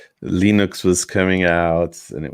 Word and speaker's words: Linux: I remember in the 90s when this thing called Linux was coming out, and it was I think it's pronounced Linux.